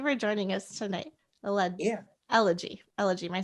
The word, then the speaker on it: Elegie: for sure i am elegy and it's actually um pronounced like ella g okay so my accent